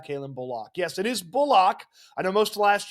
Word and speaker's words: Bullock: Yes, it is Bullock. I know most of last year we said Bullock, but Bullock is how he wants it pronounced.